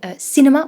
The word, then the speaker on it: cinema: So careful with cinema. We have I, cinema, instead of cinema.